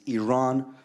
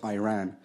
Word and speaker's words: Iran: yes here we go you're pronouncing our country's name wrong our country is named Iran not Iran please once and for all let's get this